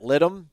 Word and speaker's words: litem: Shout out to those guys for coming in out and supporting, and then obviously it goes to the Guardian ad litem. Is that how you pronounce it?